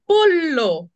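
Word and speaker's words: pollo: মা ডাকছে অথবা হচ্ছে পল্ল্য পল্ল্য মুরগির মাংস ল টা উচ্চারণ হবে শক্ত পল্ল পল্ল্য তারপর হচ্ছে নন নন্না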